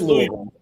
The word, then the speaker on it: Louisville: Oh, he's at Mercertown, so he's in Louisville right now. Oh, yeah, he did say that, yeah. Oh, he was in Louisville. That's right. Louisville. You ain't from Louisville, so don't even say Louisville. It is Louisville.